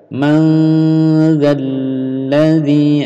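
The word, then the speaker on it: من ذا الذي: Bunyi 'n' disamarkan menjadi 'dz', ' manzalladzi'. Ah, shaddah ini harus dipertahankan, Anda tahu.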